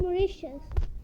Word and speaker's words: Mauritius: Seychelles and Mauritius. Yeah. Wait, it's pronounced Mauritius.